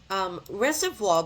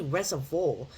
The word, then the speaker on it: Reservoir: Reservoir will be the next stop on this line. But I think I actually said it wrong. It's actually reservoir, not reservoir.